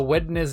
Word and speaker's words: Wednesday: those people who uh pronounced the the D for the n in Wednesday I do it subtly because I know it really bothers some people when you do weddings Wednesday but I'm a wetness day and February kind